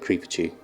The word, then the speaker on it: Creepachu: It's like Pikachu but Creepachu, but the first syllable is creep.